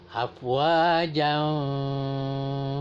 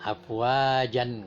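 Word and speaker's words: أفواجا: Afwajan fasabbih gitu ya. Tetapi di sini afwaja. Kadang-kadang mahasiswa ada juga yang salah, afwajan katanya. Jadi itu bacanya harus, kalau kita berhenti jangan tanwinnya itu dihilangkan ya, jangan kita baca ya.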